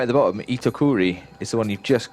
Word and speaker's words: Itokuri: Pronounced Itokuri.